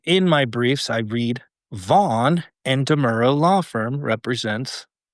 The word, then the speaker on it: Vaughan: And the deputy district attorney that dismissed the criminal investigation, is named Andrew Vaughn, and it's spelled Vaughan, not just GHN.